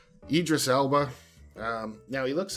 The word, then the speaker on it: Idris Elba: is Tilda Swinton and I always say his name wrong. I gotta actually look at it. Idris Elba. I always call him Idra Elby. Idris Elba.